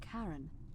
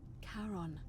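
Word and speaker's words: Charon: is a little off the name you heard wasn't karen it was c-h-a-r-o-n as in caron the ferryman of the dead karon who in exchange for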